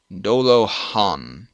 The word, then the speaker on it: Dolajan: Pronounced Dola. Dolo-han.